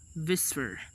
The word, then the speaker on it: VSEPR: electron pair repulsion or Vsepr pronounced as whisper states that the shape